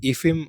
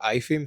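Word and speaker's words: IIFYM: En mi cabeza era algo lineal completamente la dieta esta que se llama de fit macros que se llama ifim o ifim, se escribe como en inglés, ¿no?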